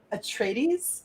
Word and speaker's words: Atreides: game of thrones and dune because of house atreides and the house harkonnen rival in the books good job on the pronunciation thanks i feel like you're being sarcastic